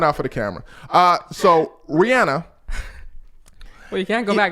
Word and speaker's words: Rihanna: I always say her name as Rihanna. I don't know. Her actual name is Rihanna. Side note, for those of you that don't know, that's how she pronounces her name.